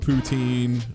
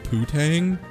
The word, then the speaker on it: poutine: No, it's poutine. That's how it's pronounced. Poutine. That's why we're saying it. It's poutine. Like that's how it's pronounced. Poutine or poutine if you have a French accent, but not poutine. It's not poutine ever. You say that here, people will laugh at you.